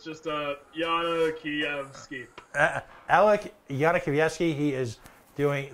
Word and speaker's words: Yana Kievsky: Alex, and just give me the pronunciation one more time. It's Yana Kievsky, so it's just Yana Kievsky.